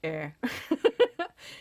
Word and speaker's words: Ayr: Well, I just say Ayr. It's spelled A-Y-R.